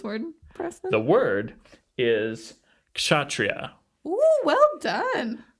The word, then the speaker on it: kshatriya: The word is kshatriya. Ooh, well done. Some people might put a little more emphasis on that K.